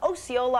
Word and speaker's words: Osceola: We've got John from Osceola, Arkansas. Is that how you pronounce it?